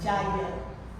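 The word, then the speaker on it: yajna: Jagya. Se escreve yagna, mas se fala jagya.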